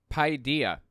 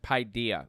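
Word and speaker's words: παιδεία: let's check and see it's Pi Dia is is what that word means or is how that word's pronounced pydia or something like that here are some examples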